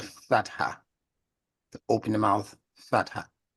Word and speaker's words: fatha: Like I just said in the word father. All right, that's the fatha.